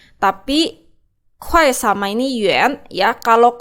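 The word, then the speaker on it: 块: Yang ini kalian lihat di sini, ini itu bacanya 快, ini 快, tapi kuai sama ini yuan ya.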